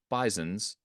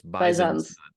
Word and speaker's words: Bisons: You've mhm, got the Buffalo Bisons, who mhm. hilariously put an S on the end of bison and pronounce the S as a Z, so it's Bisons. not bison.